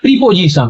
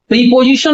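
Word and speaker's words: preposition: वो प्रोनाउंसिएशन होता है प्रीपोजिशन। तो इस शब्द का प्रोनाउंसिएशन प्रीपोजिशन न होकर के प्रपोजिशन है, प्रपोजिशन।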